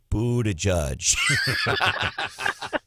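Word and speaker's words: Buttigieg: or a piyo and you said brandon it's pronounced boo to judge so how come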